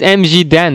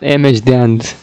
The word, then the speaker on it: MG Dan: But he is MG Dan, not MH Dan.